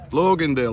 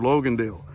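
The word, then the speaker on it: Logandale: this town over here Loganville oh my goodness I mispronounced it all together Logan deal we're actually participating in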